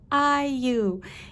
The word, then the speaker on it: IU: doing a reading for iu yay i'm finally saying her name right oh my goodness i've done i think it's two readings for her prior to this and in both readings i said her name wrong i said you so i'm so sorry